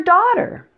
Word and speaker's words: daughter: you're in luck daughter and water rhyme the only difference is the first sound the D and otter and the W and water other than that they sound exactly the same now it's always best